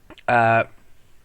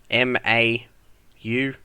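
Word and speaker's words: Mau: Mao, I think is how you pronounce it. Mao, M-A-U.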